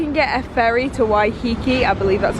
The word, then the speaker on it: Waiheke: This is where you can get a ferry to Waiheke, I believe that's how it's pronounced, island from.